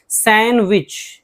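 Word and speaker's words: sandwich: Handsome खूबसूरत सैंडविच सैंडविच नहीं सैंडविच D silent है।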